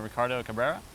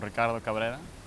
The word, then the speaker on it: Ricardo Cabrera: Hello, my name is Ricardo Cabrera, or Ricardo Cabrera. You can roll your R's if you want.